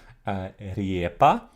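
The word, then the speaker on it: рѣпа: Riepa, with the yat, which was still pronounced like an iye at this time. It wasn't like the modern Russian ye sound.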